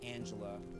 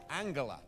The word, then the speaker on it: Angela: DBA you're just mistaken it is pronounced Angela with a soft G it's true she soft g j j used to pronounce her name with a hard G Angela but that all changed